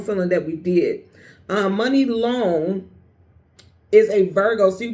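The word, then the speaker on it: Muni Long: Her name, her stage name is Money Long. It's not spelled money like M O N E Y. It's spelled what? M U N I.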